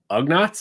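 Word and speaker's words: Ugnaught: cloud city oh uh ugnots is that how you pronounce it that's right all right and then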